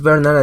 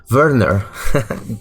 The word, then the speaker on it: Werner: Que sí es Bernard. O sea, es Bernard en inglés, pero en alemán es Werner. Y se escribe Werner.